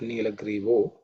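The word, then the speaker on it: nīlagrīvo: Nilagrivaha, again vaha, the visarga becomes o. That's how you get nilagrivo. Vilohitaha, no change.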